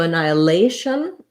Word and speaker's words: annihilation: that happening sometimes so annihilation um stress on the a um this one the